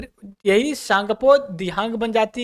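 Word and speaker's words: Tsangpo: में ओरिजिन होती है सांगपो सांगपो देखिए इसमें टी साइलेंट हो जाता है ठीक है टी साइलेंट की वजह से सांगपो के नाम से जानते हैं और यह जब यहां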